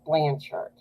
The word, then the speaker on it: Blanchard: The proper pronunciation is Blanchard.